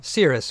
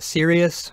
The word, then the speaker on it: serous: pull it up anyway it's called well Cirrus fluid and watch out calling it serious fluid a lot of students would do that a lot of students would try to spell it that way there is no I in there it's not serious fluid even though it is pretty serious it's referred to as Cirrus so you could again